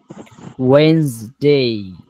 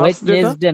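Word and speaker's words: Wednesday: ওয়েনসডে, ওয়েনসডে, ওয়েডনেসডে। আর থার্সডেটা? ওয়েডনেসডে না, জি, ওয়েডনেসডে না, ওয়েনসডে। আর ওয়েডনেসডে, Thursday, Thursday.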